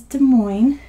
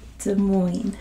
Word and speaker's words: Des Moines: to spell it because the way it's spelled is nothing like how it's pronounced it is the moin so this is Des Moines so you want to